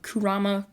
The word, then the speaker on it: Kurama: comments to this day about people saying I mispronounced it. So I'll say it right now, Kurama.